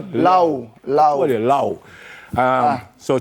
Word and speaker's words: Laoe: Kristoff pronounce the last one. Lao.